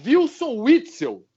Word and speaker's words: Wilson Witzel: Chamavam ele de Witzel. Nem o nome dele sabiam pronunciar. Era Wilson Witzel. Invertiam tudo. No escuro. Vote em quem você quiser.